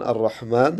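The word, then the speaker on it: الرَّحْمَٰن: lafaz ee jalalah Allah kemudian Arrahman ya merupakan alif lam e Syamsiyah kemudan arrahim juga merupakan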